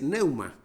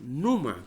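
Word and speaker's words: πνεῦμα: Pero en griego hay una palabra muy importante y es neuma. Algunos pronuncian numa también.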